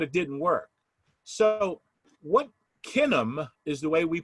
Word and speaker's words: Kinum: their kids but it didn't work so what kinam is the way we pronounce it k-i-n-u-m and kin stands for family